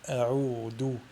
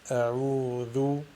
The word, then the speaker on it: أعوذ: L'erreur à ne pas faire est de la prononcer del, qui donne a'oudou, ou la prononcer zay, qui donne a'ouzou. Donc il faut tout simplement la prononcer dhal, a'oudou.